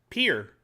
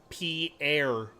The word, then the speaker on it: peer: Peer. Why? Is there something I say wrong about that? Peer. Pierre. Like I'm peering over the edge. I heard P-air.